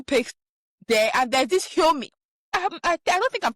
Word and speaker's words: Xiaomi: Google, there's Google Pixel there, and there's this Xiaomi. I don't think I'm pronouncing it well, but it starts at X. Xiaomi, yes.